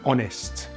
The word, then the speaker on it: honest: up weather and wine sometimes the letter h is silent at the beginning of a word these are usually french burrowed words like our and honest as they start with